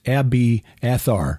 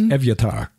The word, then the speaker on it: Evyatar: Because it's spelled like the name of David's priest. And we English speakers would look at it and say it's Abiathar. Mm-hmm. No, it's Evyatar.